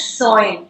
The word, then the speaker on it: Soin: I forgot to ask you how you pronounced it. That is Soin, S-O-I-N.